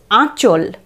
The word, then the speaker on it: আঁচল: তারপর চল, আয়ের উচ্চারণ এখানে নাসিক্য, আঁচল নয় কিন্তু, আঁচল।